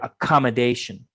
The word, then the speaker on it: accommodation: go to accommodation first remember accommodation accommodation hit those two syllable stresses especially the last one towards the end accommodation let's try that